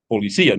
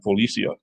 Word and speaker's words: policía: use the accent mark, but you still better say it right. Policía, not Policia.